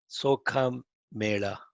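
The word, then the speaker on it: Chokhamela: This Chokka Mela, Sokha Mela, that's the way it is pronounced.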